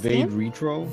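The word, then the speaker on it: vade retro: retro yeah that sounds Latin uh it's actually pronounced vague retro yeah yeah how do you spell that it's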